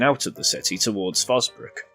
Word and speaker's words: Forsbrook: If we carried on in this direction, we'd be heading out of the city towards Fosbrook, Dillon and Cheadle. Fosbrook refers to Forsbrook, and Dillon as Dillon.